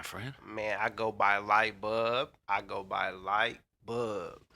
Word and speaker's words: LIGHTBUB: man i go by light bulb i go by light bulb let them know what it is how you spell that man l-i-g-h-t b-u-b man no l man b-u-b man it's light bulb that's right and i